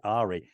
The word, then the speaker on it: Ahri: from League of Legends She is called Ari it's the same spelling without the S it is Ahri and she is Ari so my screen there's